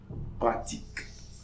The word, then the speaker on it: pratique: Okay, so we are going to pronounce this Q as K. Pratique.